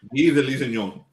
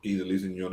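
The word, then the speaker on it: Guy de Lusignan: How do you pronounce that? Guy de Lisignon.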